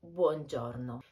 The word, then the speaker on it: buongiorno: ciao you will say buongiorno be careful with the pronunciation of this word in particular maybe you should practice the final o which is very close and doesn't present any u sound if it's after 4